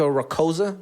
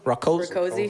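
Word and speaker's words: Rakoczy: Jessica Rakosa? Rakosi.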